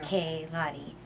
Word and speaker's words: Kaylani: And it's pronounced K-Lani. Lay.